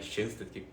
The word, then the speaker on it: Schoenstatt: Alguns conhecem como Schoenstatt, né? Que se escreve assim, mas se eu não me engano é Shansta que fala.